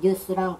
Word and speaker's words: nous: N-O-U-S의 뉴스랑 발음이 또 같은 게 N-E-W-S의 뉴스.